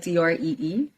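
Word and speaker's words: draoi: boundary so it's ban b-a-n 3 d or a o i pronounced three like d-r-e-e and the boundary is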